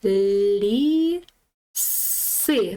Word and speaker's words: ліси: Далі лі си. Наголос на и ліси.